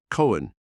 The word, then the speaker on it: Cohen: were not to be Cohen he sought and once wore he was Irish and that his name was spelled Cohen and pronounced with an accent on both syllables the becomes resident in